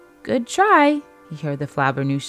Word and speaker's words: Flabbernoosh: A flaggerpoo? Is that what I see? A Flabbernoosh is how you say it, and yes, you're spying me.